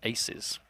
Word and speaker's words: 2Z: Now, we've been told that 2Z is pronounced aces. Oh, is it? So apparently it's aces versus RushB.